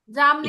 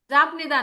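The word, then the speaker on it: 잡니다: চাপনিদা জামনিদা। ঘুমাই চাপনিদা জাপনিদা না, উচ্চারণ হবে জামনি। জামনিদা। জামনিদা, এখানে মিয়মের জাম উচ্চারণ হবে। বিয়োগটার উচ্চারণ জাম হবে ম ও মিয়মের মতো, ম।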